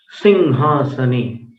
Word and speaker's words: सिंहासने: सिंहासने, आप देखिए अनुस्वार का उच्चारण कैसा है, सिंहासने। तो आप इतने दिनों में तो समझ गए होंगे कि हर जगह अनुस्वार को म नहीं बोला जाता, सिंहासने। यहाँ पर जो उच्चारण है वो ङ के समान, क ख ग घ ङ।